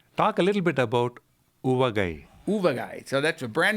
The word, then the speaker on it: Uvagai: It's called, you pronounce it, Uvagai.